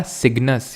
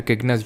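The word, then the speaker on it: Cygnus: ये है हमारा सिग्नस या फिर किग्नस, जो भी इसको प्रोनाउंस करते हो।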